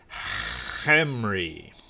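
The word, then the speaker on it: Khemri: Just remember, you're not pronouncing it right unless you're using a lot of phlegm. It's Hemri. Anyway, that aside, I don't know.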